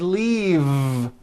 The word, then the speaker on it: leave: Leaf is that correct no it's not leaf with an unvoiced F I should have said leave with a voiced V sound faisa she just